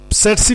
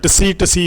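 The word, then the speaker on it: tsetse: सेटसी फ्लाई हमने कहा है, ये इसके स्पेलिंग TSE लिखा होता है। तो बाज़ जो स्टूडेंट है उसको CC फ्लाई भी पढ़ते हैं, कुछ टसी भी पढ़ लेते हैं, दैट्स ऑल रॉन्ग।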